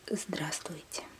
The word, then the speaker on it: Здравствуйте: Okay, I know it's rather hard to pronounce because there are 4 consonants over here, but you can actually skip this first V over here, this one, and pronounce it as Здравствуйте. Then it's a bit easier to pronounce, and no one will notice that you actually skip it, and most people skip